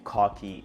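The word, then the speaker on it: Khoki: These are the Cocky jeans. And someone commented like, "Why are you pronouncing the brand Cocky?"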